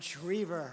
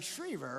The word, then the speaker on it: Schriever: And Schriever, right?